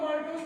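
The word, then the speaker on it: maltase: अब इसका एंजाइम है माल नहीं, मल नहीं, मलमूत्र, मैल्टेज। ऐसे बोलो मैल्टेज, गुड इंग्लिश, मैल्टेज। हाँ, ऐसे बोलो माल्टेज, गांव वाला है।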